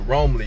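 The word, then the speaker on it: Roamly: Romley, it's spelled R O A M L Y.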